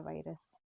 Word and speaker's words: vires: दोनों का प्रोनाउंसिएशन बिल्कुल सेम है, वायरस वायरस।